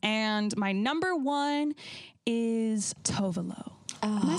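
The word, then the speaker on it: Tove Lo: right yeah okay but she really americanized her name i'm like stop saying your name like that that's not how you say it yeah yeah hi my name is totally no it's not it's tuvalu but maybe she did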